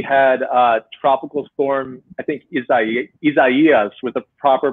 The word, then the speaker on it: Isaias: We had tropical storm, I think, Isaias with the proper pronunciation.